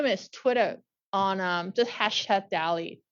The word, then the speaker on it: DALL-E: DALLE 2, like DALL-E, like the artist, but now it's made by a machine. It's using spelled like Wall-E, right? like Wall-E, yeah. Like Wall-E, but with a D.